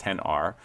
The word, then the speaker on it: XR: And the entire issue is about how the iPhone 10R, spelled XR, but pronounced 10R, um, is basically a dud.